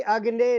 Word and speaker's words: अग्ने: से लिया गया है तो सज्जनों इसका इसके उच्चारण है कि अग्ने नय सु पथ राय पहला शब्द अग्नि है